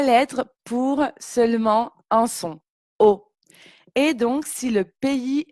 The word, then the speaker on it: aux: Donc AUX, ça se prononce tout simplement O, comme la lettre O. Donc 3 lettres pour seulement un son, O.